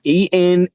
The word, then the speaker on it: Enheduanna: It's Enheduanna. If you guys want to look this up, but it's the world's first authored poems written by the Sumerian high priestess Enhudwana, or I guess is how you would pronounce it.